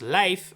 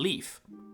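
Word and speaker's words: Leif: Leaf's name comes from Scandinavia, Norse to be exact, meaning it should actually be pronounced life rather than leaf.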